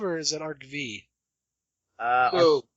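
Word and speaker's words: Yu-Gi-Oh! ARC-V: Arc 5, or is it Arc V?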